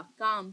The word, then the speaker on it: calm: से, यानी कि बिल्कुल, इसको स्पेलिंग CALM होता है, तो एल जो है साइलेंट होता है, एल का साउंड नहीं आएगा, काम CAM का साउंड आएगा, ठीक है।